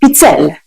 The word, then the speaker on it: pizzelle: It's spelled P-I-Z-Z, like pizza, but then E-L-L-E, pizzelle.